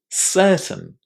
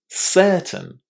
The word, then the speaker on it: certain: Certain. Certain. Did you hear how I pronounced the last four letters in this word?